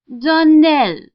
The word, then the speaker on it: Donnell: would set it right darnell accent on the last syllable and saint glare on